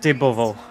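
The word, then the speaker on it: Dybowo: I think it's pronounced Dybovo, because the W is a V in Polish, basically, That in makes more sense.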